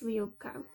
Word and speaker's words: Liubka: It's Liubka. I'm pretty more confident in that, especially because the event hosts of this event, that's how they pronounce it.